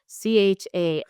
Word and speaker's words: Chanukah: CHANKAH. Hanukkah. Yes. Yes. Yes. You need to maximize the phlegm. It has to be the CH, I will not not the H.